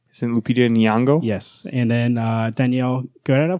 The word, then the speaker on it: Nyong'o: Is it Lupita Nyong'o?